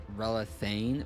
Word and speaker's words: Relathain: The official pronunciation of it is relane, but because a it, you know, a lot of people aren't able to like properly pronounce it.